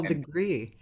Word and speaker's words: deGruy: but actually degree oh it is degree and one way to remember is degrigri is that like a french pronunciation yes okay degree yeah okay degree ladies and gentlemen my